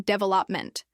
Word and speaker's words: development: For example, with development, he practiced hearing and saying development, focusing on the second syllable.